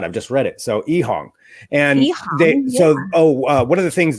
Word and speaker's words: EHang: Well, that's really cool because, their name, which is, we would pronounce it Ehang, right? But actually in Chinese, it would be called Ehang.